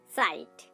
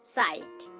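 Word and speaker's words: cite: দেখুন আমাদের স্ক্রিনে একটা উদাহরণ চলে এসেছে, সাইট। সাইট দেখুন এখানে আমরা সি এবং আই লেটারটিকে পাচ্ছি কিন্তু এখানে দন্ত স উচ্চারণ করছি, তার সাথে সাথে একটা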